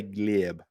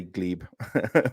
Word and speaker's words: Gleb: ago with uh gleb his name is spelled g-l-e-b but you say glib uh but I say Glebe so he's actually left